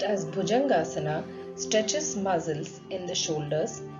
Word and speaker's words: Bhujangasana: The cobra pose, pronounced as Bhujangasana, stretches muscles in the shoulders, decreases stiffness of the lower back, and increases the flexibility.